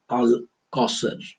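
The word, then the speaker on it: Al-Kawthar: of good or what the holy quran calls al kosar is the more proper pronunciation so i'll just go through this very short well-known chapter of the holy quran chapter 108.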